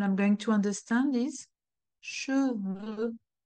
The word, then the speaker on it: cheveux: Otherwise, what I'm going to understand is cheveux. Chevaux. Donc, un cheval, a horse. Des chevaux, plural. O. Des cheveux. E. O. E. O. E. You see my lips? They are quite extended when I pronounce O.